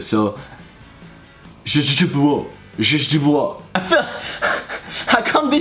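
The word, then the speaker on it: źdźbło: Je bois. Oh, so you don't really pronounce the first one, like the first one is almost silent, it's je bois.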